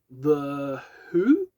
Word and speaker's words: The Hu: We have The Who. I think that's how you pronounce it. H-U, Who.